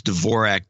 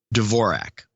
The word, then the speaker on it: Dvorak: indicates a Russian origin the Russians pronounce Dvorak Dvorak and the and in much of Czechoslovakia is pronounced Dvorak and the American pronunciation is Dvorak period and ascend the progenitor